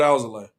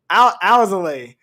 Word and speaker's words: Alzolay: Albert Alzolay. Alzolay.